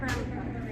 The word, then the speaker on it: Ramapo: How do you say, I want to say your city's name right. How do you say it? The city's name. The town of Ramapo. I'm sorry? This is the town of Ramapo. Ramapo? That's the town, yeah. Ramapo, though, is how you say it? Yeah.